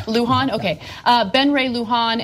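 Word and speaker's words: Luján: and is that how you say his name Luhan Luhan okay uh Ben Ray Luhan and the powerful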